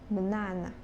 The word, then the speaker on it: banana: energy from for example in the word banana the stress falls on the second syllbl is banana the next is type